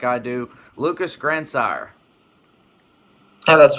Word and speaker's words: Grandsire: when you look at it, it looks kind of like Grandsire, but it's Grandsire. Yeah, just like it's spelled. Some people, they like throw an H in there. I've been called Grand Desire, but hey, that's cool.